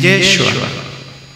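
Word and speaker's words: ישוע: Pronunciado en hebreo es Yeshua.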